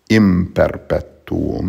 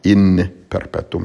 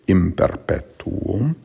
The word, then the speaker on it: in perpetuum: it's atquim, then imperpetuum, the N before a P would be pronounced like an M, so it's imperpetuum, not in perpetuum, it's imperpetuum.